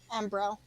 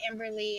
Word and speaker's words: Amberle: pronounce it Amberle. Am- Ambrelle.